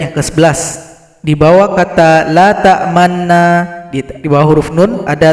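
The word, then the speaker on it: تَأْمَنَّا: Artinya huruf nun ini harus kita baca dengan memonyongkan bibir kita. Jadi asal katanya adalah la ta'manuna. Nah, jadi bunyi huruf nun yang dhammah di sini disembunyikan, maka kita timbulkan dengan ishmam. Jadi cara bacanya mesti kita praktek atau talaki dengan guru kita masing-masing. Perhatikan posisi mulut ketika baca ini. Jadi kata la ta'manna dibaca dengan SMS. Senyum, monyong, senyum.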